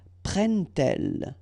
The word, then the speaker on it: prennent-elles: But then here, prennent-elles, okay? So you've got your t and then prennent-elles, all right?